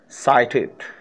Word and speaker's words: sighted: fire साइटेड, fire साइटेड, साइटेड, इसमें जी एच जो होता है साइटेड, इसमें साइटेड जो है जी एच की आवाज़ साइलेंट होती है, दूर अंदेश यानी दूर